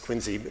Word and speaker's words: Quincy: example from Quincy Massachusetts I don't know why it's pronounced Quincy south of Boston uh